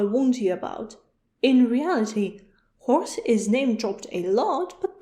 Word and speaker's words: Hors: The first one is Hors. No, not the animal. It is spelled H-O-R-S.